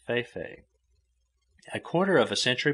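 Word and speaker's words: fe-fe: Feifei he had, which is the native for elephantiasis, and which is pronounced Feifei.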